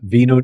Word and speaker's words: vino: English friends it's uh Vino Tinto for you know yeah the v in Spanish is pronounced as a b so and vino blanco